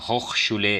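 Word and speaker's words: Hochschule: होखशुले इसकी प्रोनाउंसिएशन होती है यहाँ पे यूनिवर्सिटीज़ वगैरह की।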